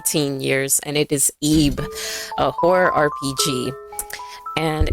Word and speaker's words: Ib: in my early teen years and it is eeb a horror rpg and it's really great story